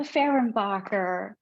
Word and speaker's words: Fehrenbacher: we're here today with guest speaker poet farenbacher am I pronouncing that correctly that was beautiful very nice